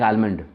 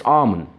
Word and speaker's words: almond: saying all across India I've heard people saying almond why is that it's almond in the similar face of fashion there are